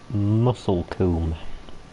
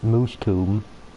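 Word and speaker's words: Moulsecoomb: spell it m-o-u-s-l-e-c-o-o-m-b and i think that's supposed to be muscle comb muscle comb or it could be said as moosh tomb or muscle comb or something like that but i'm i would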